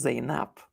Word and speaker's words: Zainab: And in Arabic, you can simply pronounce her name as Zainab.